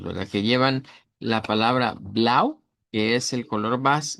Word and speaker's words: blau: Eh vamos a comenzar, como les decía, con el blau. El blau es el color base. Lo vamos a pronunciar el diptongo au con una u corta, una a del español y una u corta.